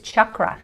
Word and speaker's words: chakra: They would just go nuts with it, So I decided to take the CH, but the softer A. So I'm kind of doing an Americanized version, but the actual pronunciation just from Sanskrit is chakra.